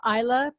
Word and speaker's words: Islay: I went up to the Highlands, and then I also went to the island of Isla. It's spelled Islay, but it's Isla.